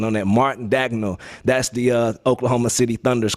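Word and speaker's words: Mark Daigneault: It's Mark Dagnall. You didn't get the pronunciation on that. Mark Dagnall.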